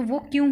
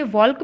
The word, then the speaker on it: walk: Silent होते हैं, तो वो क्यों होते हैं भाई. वॉक को हम वॉक क्यों पढ़ते हैं, जबकि स्पेलिंग WALK है, तो हम इसे वॉल्क भी तो पढ़ सकते हैं.